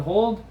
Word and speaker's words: hodl: on social media twitter they call it hold but they spell it hodl and it's an inside